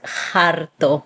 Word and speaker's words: jarto: It comes from the word that you would spell it with H instead of J, like they do here in Puerto Rico. So to be full, estar harto. Here it's just harto or jartarse.